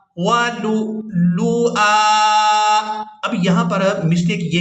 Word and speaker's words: ولؤلؤا: لام حمزہ پیش لو، یہاں ہم نے حمزہ کو ادا کرنا ہے اور حمزہ ساکن ادا ہوگا، واو کو ہم یہاں